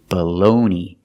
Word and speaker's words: bologna: it's a schwa baloney the second syllable stress it's the long o like know and go balloon and the g is silent and the last syllable is e it's the long e like green bean e baloney baloney is